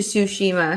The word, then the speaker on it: Tsushima: it sweetie you can he pronounces the tea whenever he speaks quickly so he's like - she MA and I'm it's like it's soo Shema sushi but yeah so and